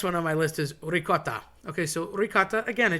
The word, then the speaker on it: ricotta: Okay, so ricotta, again, a cheese, but people say rigot. There's no G involved. C's and G's got morphed and mangled so many times over the years. It's just hilarious.